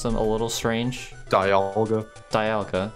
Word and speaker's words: Dialga: Dialga, because it's a diamond.